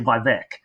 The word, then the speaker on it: Vivek: I should say Vivek, because that's how it's pronounced.